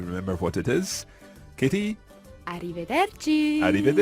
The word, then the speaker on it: arrivederci: and it is arrivederci Francesca let's hear the pronunciation of this arrivederci Kitty arrivederci and this literally means until we see each